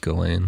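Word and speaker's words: Ghislaine: fan of that and it's pronounced galen i like it well the s is silent kind of like mike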